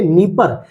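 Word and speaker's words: Dnieper: सहायक यहीं पर आपको नीप नदी देखने को मिलेगी डी साइलेंट रहेगा मैं जूम कर देता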